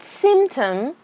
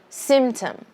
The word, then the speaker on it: symptom: let's pronounce it correctly symptom symptom there is a p here but you don't have to pronounce it english is a lazy